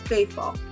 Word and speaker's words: Fafaul: how do you say your last name it's faithful yeah faithful do you get mix-ups on your